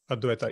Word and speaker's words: Advaita: you tell us about, I believe I am pronouncing this correctly, Advaita? Advaita, yes.